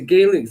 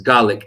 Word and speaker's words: Gaelic: It's Gaelic in Scotland, not Gaelic. Yeah, we it's say Gaelic, not Gaelic.